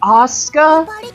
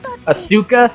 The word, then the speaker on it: Asuka: Yeah, it's Asuka? Asuka? Because I don't think you pronounce the U.